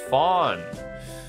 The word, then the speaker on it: von: Vaughn in noble titles is pronounced Fawn.